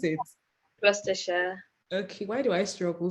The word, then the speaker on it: Gloucestershire: That's how to tell me, how do you pronounce it? Gloucestershire.